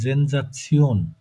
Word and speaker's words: Sensation: eine Sensation, ওই সেন্সেশনই, কিন্তু উচ্চারণটা হচ্ছে জেনজাচিয়ন। Sorry, sir.